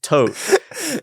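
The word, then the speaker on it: Thoth: what God of Li it might be pronounced tote and it's the Ibis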